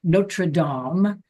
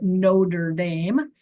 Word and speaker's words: Notre Dame: I speak French, so I'll pronounce this properly, Notradam University or Notre Dame, whatever you prefer.